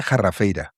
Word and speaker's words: Jarrafeira: cae de los árboles, ¿por qué es la jarrafeira? ¿Y sí se dice así? ¿Se pronuncia así? Sí, sí, sí, totalmente.